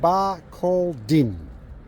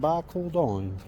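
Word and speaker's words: Barcaldine: on the way to tree of knowledge it's pronounced bar called din I thought so I always called it bar calleden but everybody calls it bar called on so it reminds me of that reminds me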